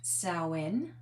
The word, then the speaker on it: Samhain: Now we are going to get a little bit of insight about Sen or Sam Hayne as it's spelled S A M H A I N which really is the uh more traditional I guess older type of celebration.